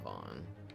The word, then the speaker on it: van: Yeah, I think it's spelled V-A-N, like van, but I'm pretty sure it's pronounced Vaughn.